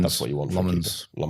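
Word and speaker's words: Lammens: Um and I think that's what you want from Lemons. I've got that pronunciation right. Lemons.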